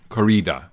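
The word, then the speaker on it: Kore-eda: Koreeda.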